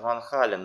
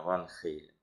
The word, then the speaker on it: Van Halen: Ну, в народе его еще называют Ван Хален, но мы будем называть правильно Ван Хейлен. Хотя и так будет правильно.